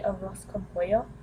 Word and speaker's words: arroz con pollo: I usually get what they call the arroz con pollo. It's You have to basically roll your R.